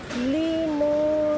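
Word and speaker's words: limón: Limon guys. Hindi kami bisaya pero yun ang pronunciation dito.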